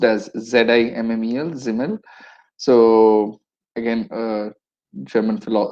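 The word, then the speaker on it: Simmel: uh george zimmel um it's spelt as s-i-m-m-e-l pronounced as z-i mmel zimmel so again a german german sociologist according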